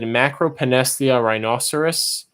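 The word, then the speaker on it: Macropanesthia rhinoceros: So if you were curious about pronunciation of the species, I've always said Macropenesthia rhinoceros and Archimandrita tessellata for those two.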